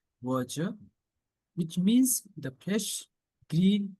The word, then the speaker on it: verdure: I repeat, the pronunciation of this word is verger, which means the fresh green color of lush vegetation.